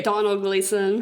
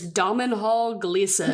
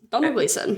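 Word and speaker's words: Domhnall Gleeson: Donald Gleason. I also think I could. The way I used to fully pronounce his name as Dominhall Gleason in my brain when you because it's just got that.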